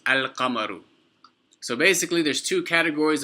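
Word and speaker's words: القمر: When an alif lam enters upon a word that begins with a moon letter, you pronounce the lam with a sukoon on it. So it's al-qamaru, al-qamaru, not ak-qamaru, al-qamaru.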